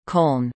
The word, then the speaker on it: Köln: Cologne, English, German, Köln, pronounced Cone, listen, Ripuarian, call, Kohl, listen, is the